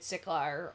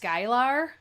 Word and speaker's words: Skylar: Oh, it's pronounced Skylar? Wow, I was close.